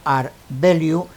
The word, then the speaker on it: rvalue: en este ejemplo un ere de liu pronunciado art de liu es una abreviatura de